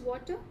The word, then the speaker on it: water: Next is water. It's not water, it's water. Right? Water. You do not pronounce the R at the end.